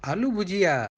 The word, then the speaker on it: aloo bhujiya: were served I love you Gia au it's pronounced as aloo bhujiya and we are passing over Kuala Lumpur now